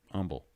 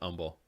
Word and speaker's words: Humble: Humble. What did you not pronounce in that word, humble? There is an H in that. Yeah, but you're not pronouncing it, right?